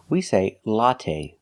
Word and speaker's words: latte: We say latte. We don't say latte. The last syllable is the long a. It's not stressed, but we use the long a like say and pay. Latte. Make a long sound. Not the short latte, but the long a. Latte. The first syllable. A latte. It's the short O sound like hot and stop.